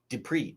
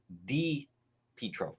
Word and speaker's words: DePietro: No, meaning no vowel I. It's not like Dupree. It's DePietro. Think of just the letter D, DePietro. DePietro is the easiest way to pronounce it.